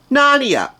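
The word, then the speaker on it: Gnarnia: a right well they added a silent G in the beginning of that word so it's spelled g n a r n i a nania silent G lazy also on the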